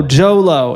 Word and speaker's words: Jho Low: No, Jho Low. It's spelled JHOLOW. Jho Low. Jho Low. Yeah, pretty close actually. JHO JHOLOW.